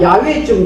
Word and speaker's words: 야훼: 그래, 야훼가 또 우리 한국에서는 너무 또 이렇게 발음이 이상해가지고 야훼가 여우처럼 이렇게 발음이 돼가지고 한국에서는 야훼를 안 써요.